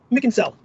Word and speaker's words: Mackinsell: you my name is mackinsell pronounced mick mickensell and i am a rep